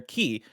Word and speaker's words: chi: says bless that weird x is the greek letter key it's pronounced it is pr it's spelt c-h-i it's pronounced key in k-h because kingdom